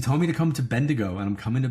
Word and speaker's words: Bendigo: You told me to come to Bendigo. And I'm coming to Bendigo, right?